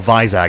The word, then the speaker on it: Vizag: How would you like to pronounce that stadium? Visakhapatnam, or Vizag as it's commonly known.